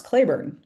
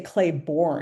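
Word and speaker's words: Cleburne: It's like I once got hit for the way I pronounce Clayburn cuz someone was like, "Oh, in the South we say Claybornne."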